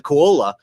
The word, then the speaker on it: Koa: I talked about the the KA not the kaala I said it wrong the first time I make sure I get it right the KOA uh Rum company in